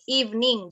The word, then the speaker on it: evening: Ingat ya, good evening. Jadi E-nya di sini nih, huruf E ini dibacanya I. Evening, bukan evening ya.